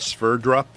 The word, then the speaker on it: Sverdrup: It's SVERDRUP, Sverdrup.